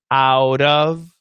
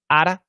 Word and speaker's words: out of: and out of so you should be pronouncing it properly imam pardov with a flap t out of with a flap t uh many times americans are just gonna say parda and ara um but what i